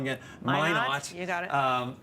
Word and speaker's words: Minot: Minot. You got it. Because I want to say Minot, and Yeah. it's not. It's Minot, and that's so that we're looking at fairly high up in the storm.